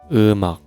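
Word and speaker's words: 음악: And next, eumak. Eumak. This is two syllable. And first syllable ends with batchim, mieum. And next syllable starts with ieung. So, we speak eu mak.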